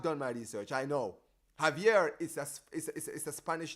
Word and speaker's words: Javier: That's because in Spanish, the J in Spanish or G sounds like H.